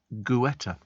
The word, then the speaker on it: Guetta: Well, it's G-U, so it's Guetta. Pronounced Guetta.